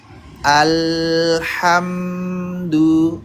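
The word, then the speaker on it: الْحَمْدُ: Tapi kalau tahan sebentar itu seperti alhamdu. Nah, jadi alham jangan langsung alham jangan langsung dilepas.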